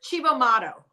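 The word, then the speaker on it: Cibo Matto: I can't pronounce it. It's Chivo Mato is the band, and I only know that because I heard them say it.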